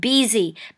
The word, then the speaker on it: busy: คำ นี้ นะ คะ เรา ไม่ อ่าน บzy นะ คะ ตัว s ตัว นี้ นะ คะ ออก เสียง แบบ ตัว z นะ หรือ ตัว z นะ ก็ คือ อ่า มัน จะ ออก เสียง นะ คะ นิด นึง นะ คะ สั่น ๆ นิด นึง busy busy แปล